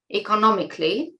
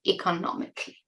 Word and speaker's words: economically: because I've been living economically.' Also for pronunciation, notice that it is not 'economiCALLY'. Many of you make this mistake of pronouncing 'C-A-L-L-Y' as 'kally'. It's 'cli': economically.